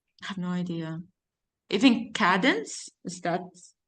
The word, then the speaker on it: Cadence: Even Cadence, is that how you pronounce it? Cadence, Candace? Cadence? No, it's Candace. not Candace.